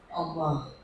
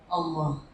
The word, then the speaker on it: Allah: Allah. Allah. Allah. Makanya sebut Allah itu enggak boleh tipis. Allah. Allah. Karena kalau tipis, maaf ya, kalau tipis ada orang tipis kan bacanya Allah. Enggak bergetar. Allah itu cuma bergetar di leher.